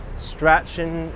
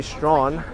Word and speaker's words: Strachan: Strachan Street. It's actually Strawn.